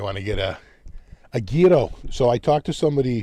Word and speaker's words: gyro: asked her I said so how do you pronounce the we call him gyro she goes ghetto you know you know